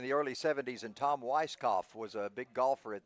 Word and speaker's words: Weiskopf: early 70s and Tom weiskopf was a big golfer at that time and one of my buddies called him Weiss kapov and I said why did you pronounce both letters and he said well